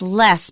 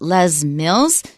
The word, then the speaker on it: Les Mills: So Les, you might think it's Les because it could be short for Lester, but they pronounce it Les Mills.